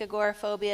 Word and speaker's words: agoraphobia: Is there any relation with, and I might not be pronouncing it right, okay, anxiety, OCD, what about agoraphobia? Agoraphobia? That's it.